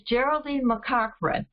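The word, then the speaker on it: Geraldine McCaughrean: And the first book we're reading, I'm glad to tell you I learned how to pronounce her name. It's Geraldine McCochran.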